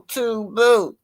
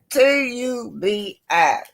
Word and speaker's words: Tubi: Married Mansion starring on Tubu. What's how you pronounce it, y'all? Tubi.